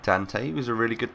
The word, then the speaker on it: Dante: Moving on, we have got the team of the season, Dante, or Dante is how I've been told to pronounce it by Micho and Sam.